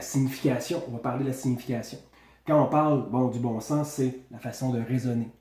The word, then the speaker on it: bon sens: Le bon sens, S-E-N-S. On ne prononce pas le S. Des fois, on va l'utiliser, le S, c'est-à-dire on va le prononcer.